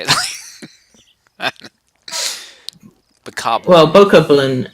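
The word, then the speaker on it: Bokoblin: I the cop well bow coupling is actually the proper pronunciation but it sounds so stupid I don't care I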